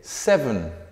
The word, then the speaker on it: seven: Número 7, seven. Esta E casi queda fuera. Seven, seven.